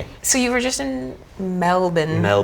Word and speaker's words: Melbourne: - Well Melbourne is what it looks like in American but they call it Melbourne. - Melbourne. - Yeah. - So we got to do the Melbourne Comedy Festival together.